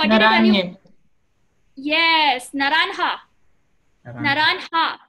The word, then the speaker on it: naranja: Naranja. No. What did I tell you? Yes, naranja. Naranja. Remember the J is like an H.